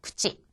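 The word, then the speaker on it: くち: 구찌. 이때의 치 발음은 첫음이 아니잖아요. 그렇기 때문에 구찌에 가깝게 발음이 나겠죠.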